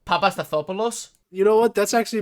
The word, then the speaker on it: Papastathopoulos: Can you pronounce his last name? Papastathopoulos.